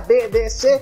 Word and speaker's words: BDC: Así me dijo que lo pronunciara BDC.